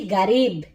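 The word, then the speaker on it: قريب: এরপর আমরা রেখেছি গারিব। আরবি শব্দার্থ গারিব মানে হচ্ছে কাছে।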